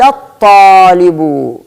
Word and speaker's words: الطالب: سأنتقل من الدال إلى الطاء مباشرة، فأقول سجد الطالب. إذن عندنا القاعدة العامة خرجنا عنها. ال تكتب ولكنك لا تنطقها، ال تكتبها ولكنك لا تنطقها.